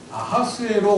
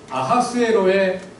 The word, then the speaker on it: 아하수에로: 자는 우리말에 키이 아니라 마찬가지로 아하수에로의 하도 히읗이 아니라 흑 소리입니다 아하수에로 세를 어 하소